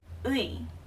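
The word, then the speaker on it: ㅢ: Last one is ui. Ui. Okay, so it's a u and e together, so it's pronounced ui.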